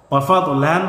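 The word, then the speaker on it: وفضلا: ওয়াফাদলান থেকে ওয়াফাদলা।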